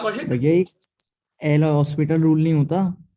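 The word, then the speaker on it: L'Hôpital: वैसे उसका सही वर्जन एल हॉस्पिटल होता है, बच्चे सब उसको एल हॉस्पिटल कहते हैं, उसमें एच साइलेंट होता है।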